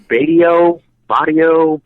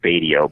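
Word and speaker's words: Batio: his last name correctly I don't know if it's bio bio I've heard it pronounced many ways I think it's badio but I could be wrong yeah I was I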